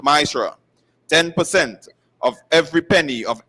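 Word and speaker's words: מעשר: You can find this in numbers 18 and verse 21 and Malachi 3 8-10 means 10th in the Hebrew and is pronounced myra.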